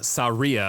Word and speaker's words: Saria: Saria apparently is how you pronounce that, but I will take Sarah's song for that one.